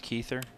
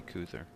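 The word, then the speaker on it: Kuether: when you got Queens are you sure it's keither feel like all of his friends even say cther he actually provided a phonetic spelling on Twitter the other day unless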